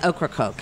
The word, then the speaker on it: Ocracoke: you guys found in horik hope I pronounced that right oh yeah I've mispronounced it but it's Ocracoke I've been corrected North